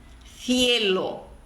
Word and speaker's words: cielo: Então, em determinadas regiões da Espanha, a letra Z, a letra zeta em espanhol e a sílaba C seguida de E C seguida de I são pronunciadas com a ponta da língua entre os dentes. Então, por exemplo, zapato, cielo, cerebro. Ponta da língua entre os dentes e na hora que você pronuncia essa sílaba, você assopra.